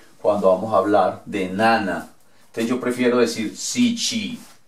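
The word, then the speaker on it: なな: Bueno, para pronunciarlo sería nana.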